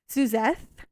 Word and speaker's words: Suzeth: This is Suzeth, right? Yes. Pronouncing it correct.